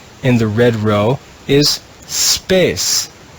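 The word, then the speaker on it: spes: the red row is space even though it has four letters it's only one syllable space space means hope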